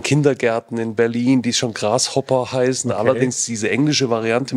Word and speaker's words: grashobber: mal absetzen davon und haben einfach dieses PP rumgedreht haben gesagt wir machen die Strich nach oben und machen BB draußen ja das heißt jetzt genau ausgesprochen das Grashopper wir fliegen jetzt